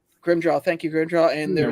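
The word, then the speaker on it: Grimmjow: wall i can't ever say his name um broom jaw grim jaw thank you grandchild and they're ready and renji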